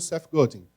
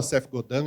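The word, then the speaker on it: Seth Godin: que foi educada pelo CEF golding né Tem gente que fala CEF godando ele mesmo fala eu não sou canadense eu sou americano é CEF golding né ele mesmo pronuncia dessa forma eu tive que aprender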